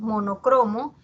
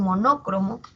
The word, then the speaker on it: monocromo: Como pasa con monocromo, que muchas veces las personas pronuncian monócromo, pero la forma que tiene esta palabra es grave.